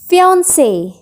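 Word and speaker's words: fiancé: मंगेतर को हम इंग्लिश में फियांसे। फियांसे। मैन को भी हम फियांसे बोलते हैं और विमेन मंगेतर को भी हम फियांसे ही बोलते हैं, बट इनके स्पेलिंग्स में फ़र्क है, बट प्रोनंसिएशन सेम होती है।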